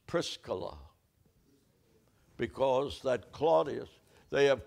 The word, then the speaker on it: Prisca: Aquilla Aquilla and Priscilla every American preacher Paul met Aquilla and Priscilla it was Aquila and Prisa Aquila and Pisa Prisa that was the woman's name but we are Hillbillies and say Priscilla it's prisca because that Claudius they